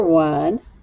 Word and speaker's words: one: even more interesting is this number one o n e the number one they both sound exactly the same but they are spelled differently now this one it sounds like w u n it sounds the same